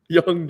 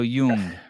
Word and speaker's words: Jung: I think that's pronounced Jung, by the way. Young Jay. No, Jung. Jung Jay.